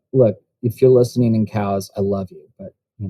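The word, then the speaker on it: Cowes: that correctly madon um cows of course it's in the uk cows spelled c-o-w-e-s in the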